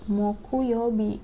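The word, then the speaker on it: 木曜日: ini dia adanya di hari Kamis sih dibacanya Moku Moku Youbi mukul Youbi Lalu ada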